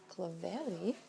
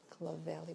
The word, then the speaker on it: Clovelly: I'm also after the Clovelly tote bag. I've just been corrected by my sales assistant the way I pronounced the Clovelly bag. So it's a Clovelly actually.